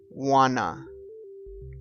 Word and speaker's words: want to: at the next one want to we changed the sound and we say wanna wanna I wanna eat Italian